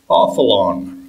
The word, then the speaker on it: Avalon: frequented some distant land called offalon or as the academics have come to spell it avalon or abba long however the welsh have no z or b in their alphabet even to this day king arthur requested to